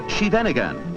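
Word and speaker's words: Scheveningen: of a city only a native can pronounce the name of this town properly it is shenan and during the war the Dutch underground used it as a password because Nazi agents couldn't pronounce it in the small city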